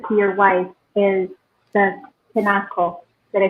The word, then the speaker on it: kinako: Okay, and so your love letter to your wife is the kinako.